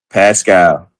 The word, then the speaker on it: Pascal: Pascal.